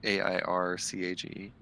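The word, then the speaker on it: Eirkage: is it literally air cage like a a a i r c a g e it's e i r k a g e but it is pronounced air cage it's okay it's it's under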